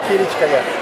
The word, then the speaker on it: Kılıçkaya: En fait, ça se prononce Kılıçkaya Kilikaya. en turc, parce que je suis née à la frontière turco-syrienne, dans une ville qui s'appelle Antioche.